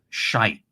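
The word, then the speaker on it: Skeid: I pronounce this team, the top team. It's I do believe, I've been told this many times, but I think it is shite, basically. Shite against Hedd is the actual name.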